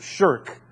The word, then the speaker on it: shirk: polytheist is the word shirk. It's pronounced the same way that you and I would say a 14-year-old boy is shirking his duties to take out the